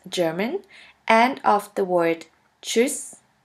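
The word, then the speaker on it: tschüss: ha t st ha which is simply pronounced like a CH in english here we have the example of the word voyage voyage which means German and of the word choose choose which means by voyage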